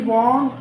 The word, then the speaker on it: Vaughan: जिस तरह की पोएट्री डन एंड अदर्स लिख रहे थे, John Donne, George Herbert, Henry von, that is the pronunciation of Vaughaf. So Henry Vaughan, Richard Crashaw, Abraham Cowley, George Herbert, Andrew Morvell,